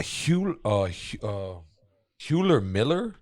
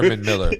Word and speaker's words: Herman Miller: A Hewler Miller chairs? Am I saying it right? A Herman Miller chairs? That sounds better. Yeah, I don't know if probably that's Herman. right, but that sounds I think it's better. Herman Miller.